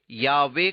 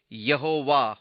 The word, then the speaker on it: यावे: Bible में लिखा है अंग्रेजी में यावे का उच्चारण किसी प्रकार बादल कर यहोवा हो गया और यही कहानी अधिक लोकप्रिय बन गया परंतु या वेद वास्तविक उच्चारण है परंतु हम निश्चय पूर्वक